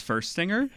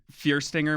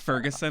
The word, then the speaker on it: Fuerstinger: get your name right my name is first singer oh yeah yeah I mean or you know fierce singer might be the proper way to say it I don't know I always say you know first you know yeah I get I get Ferguson a lot yeah more people just look at it and they're like anybody anybody wants to know its first stinger gotcha and then look